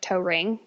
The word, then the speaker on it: Toering: And then Toering spelled like toe ring.